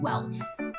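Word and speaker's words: Ewels: For this character, it's the same premise as the spelling from Barn. It is spelled E W E L S, but it is said Welss.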